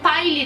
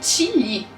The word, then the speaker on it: Ty Lee: For example, the name Ty Lee has been pronounced both as "Ty Lee" and "Tee Lee" Katara: "Ty Lee.